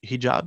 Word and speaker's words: hijab: and Islamic beliefs some choose to wear the hijab is that how you pronounce it yep that's right yeah and I